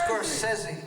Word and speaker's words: Scorsese: No, I was asking how you pronounce it because I mispronounced it on the record. It's Scorsese.